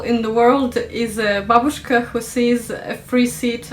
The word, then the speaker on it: babushka: maybe number four russian babushkas and the first thing to say to you world please remember it's babushka not babushka the stress goes on the first syllable okay it says here